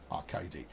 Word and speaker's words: Arcady: Rhymes with Bacardi, despite the fact you've spelt that entirely wrong.